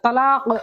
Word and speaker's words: তালাক: তালাক হইলে হইতো না তালাক হওয়া লাগবো বড় কাপ উচ্চারণ হওয়া লাগবো গলারও উনতে না খা না তালাক দেখো যাই তালাক হইছে না তুমি কাফ উচ্চারণ করা লাগবে তোমার আমি লেখিয়া দিয়া